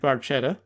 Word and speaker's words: barchetta: On to track 2, Red Barchetta.